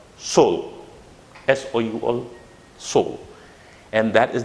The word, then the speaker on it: Seoul: This is the pronunciation. Seoul. It's not Seoul, but Seoul.